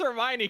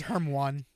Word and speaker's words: Hermione: as heroin and I was like this Hermione character I I I when's her heroin going to show up? I read it as Herm one. Yeah. See, everyone pronounced it weird in their heads.